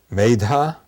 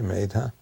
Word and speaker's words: Medha: The word mazda is the equivalent you can say the same word as a vadic word uh maidha m d h long a maidha which is an attribute of the god varuna.